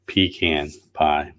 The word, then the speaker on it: pecan: after the they say the proper pronunciation should be pecan pie and not pecan but you know who